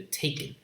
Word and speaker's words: taken: Te, ken. There are two syllables. Te and then ken. This is a syllabic consonant. You have to draw a short vertical line right below N. So the correct answer will be taken. T-A, T-A, ken. Two syllables.